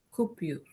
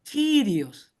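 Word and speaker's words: κύριος: Cupius. Cup. No es cupius. Okay. Esa que parece P no es P en griego, es la letra ro, es kirios. Algunos pronuncian como curios.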